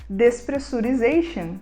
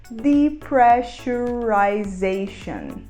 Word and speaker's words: depressurization: E a gente costuma achar que ela se fala despressurization, mas não é. A gente vai falar depressurization.